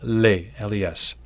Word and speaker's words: les: Take for example the article less. By itself, it's boring. It sounds like le and you don't pronounce the s.